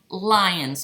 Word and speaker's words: Lyon: So this block and this quilt, this next one, is called Lion's Quilt, and it's spelled Lyon.